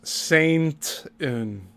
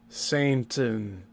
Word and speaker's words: Satan: He's continually mispronouncing Satan as Saintin. You notice that? Cuz I did. He said it several times now. Satan. He's not saying Satan. He's saying Saint in.